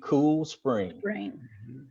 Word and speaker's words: Cool Spring: you professionally and politely explain to them what the name of our church is amen with without an ass on spring there you go